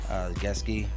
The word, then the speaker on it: Gesicki: All right, you can also go down to Mike Gesicki. That's how you pronounce it, but nonetheless, too cheap to be ignored here, man.